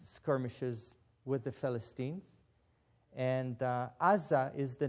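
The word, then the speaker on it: עזה: goat but this one ein sein hey is red i in with an ah sound ah sein with an ah sound za and a hay with no vowel which gives you a silent letter aza is the hebrew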